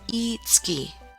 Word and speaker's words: Itsuki: It's written as one moon and pronounced Itsuki.